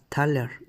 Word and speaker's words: thaler: La palabra proviene de la palabra thaler, que se pronuncia como una A larga, que es el nombre